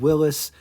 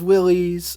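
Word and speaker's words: Willys: was a Dodge and Willis dealer yes that's how you're supposed to pronounce it everybody says Willies I I honestly don't care how you pronounce it I'm just trying to pronounce it right Willis Motors manufacturers of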